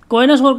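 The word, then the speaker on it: connoisseur: word है कोना सोर कोना सोर का मतलब क्या होता है इसको आप प्रोनाउंस ऐसे ही करेंगे ठीक है कोना सोर तो कोन सोर का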